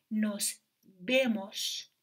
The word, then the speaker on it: nos vemos: پس اون و رو نباید و تلفظ کنیم وی را باید ب تلفظ کنیم. پس میگیم nos vemos.